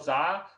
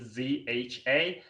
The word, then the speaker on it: Zha: You can just Google my name, Carl Za. Carl is spelled with a C, so Carl, and my last name Zha.